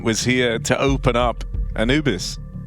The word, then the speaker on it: Anubis: Obviously, the one time they didn't was here to open up Anubis. Or Anubis, as it's officially pronounced. Anubis.